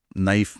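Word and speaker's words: knife: जैसे नाइफ में के चुप है, ऑनेस्ट में एच की आवाज नहीं आती, और डाउट में बी बस मौन खड़ा है।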